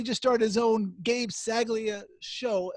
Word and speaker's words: Saglie: started his own games a glia show am I even pronouncing your last name correct exactly a Ceglie a that's it it makes it sound fancier between you and so